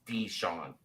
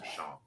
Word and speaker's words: DeSean: ball is absolutely Elite it's d Sean not Sean and also you saw